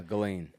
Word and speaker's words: Ghislaine: Ghislaine, is it Ghislaine? Yeah, Ghislaine.